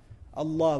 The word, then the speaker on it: Allah: But what do we say when we pronounce Allah, we make it heavy, we break the norm of the Arabic language for this word.